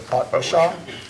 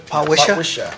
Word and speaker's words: Potwisha: The Potwashaw? Potwisha? Potwisha.